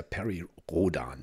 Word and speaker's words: Perry Rhodan: den das heißt ja Perry Rodan ne also so richtig so deutsch ausgesprochen wo kommt nicht der